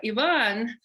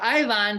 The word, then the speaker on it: Iván: So Ivan, or Ivan, depending which part of the world people are pronouncing your name.